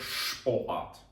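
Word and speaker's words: Sport: давайте приведемо приклад до прикладу спорт в українській читається як спорт а в німецькій читається як шпоат Тому що перед буквою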